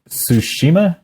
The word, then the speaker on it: Tsushima: Tsushima?